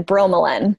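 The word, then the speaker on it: bromelain: B ro e m e la I n bro melon Ramon what's it found in besides pineapples for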